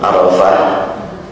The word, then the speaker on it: Arafah: ya nah ini Ara kalau arafahnya tidak pakai Alim dibacanya pendek kalau Arafat banyak pakai Alif dibaca panjang dan ada namanya perlu